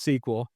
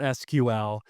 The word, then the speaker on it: SQL: And so I make a post that's like SQL is pronounced sequel, not SQL, and I just, made